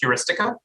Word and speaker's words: Heuristica: little bit more about is it am i saying or is it heuristica you are saying it right right first before we